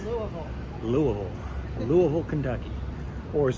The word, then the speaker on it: Louisville: Now, it's uh not pronounced Louisville. It's certainly not Lewisville. It's It's Louisville. Louisville. Louisville, Kentucky. Or as the locals here say, level, Kentucky.